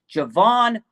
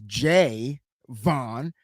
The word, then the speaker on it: Javon: The 49ers added Javon Hargrave, man. Mhm. Unbelievable. You go, you, you, Unbelievable. you're going to be mad because I got to correct you. It's Jay Vaughn because he said that's how he pronounced his name.